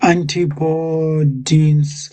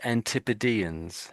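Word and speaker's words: Antipodeans: Anti antipodines. Antipodines. Not far off. Um, we we normally say antipodans.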